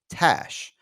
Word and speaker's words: Tash: It's pronounced like Ash, but with a T. Tash.